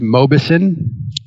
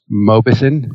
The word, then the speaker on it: Mauboussin: one other thing eron my last name is pronounced Mobis Mobis yeah and it takes took